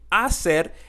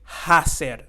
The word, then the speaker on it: hacer: and if you remember the H is silent sometimes most of the